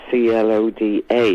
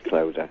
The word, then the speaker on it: Clodagh: was with Decca Records, they actually removed the GH. On my old records, it's Cloda, because they said people won't be able to pronounce that name over in England, so it became Clodagh.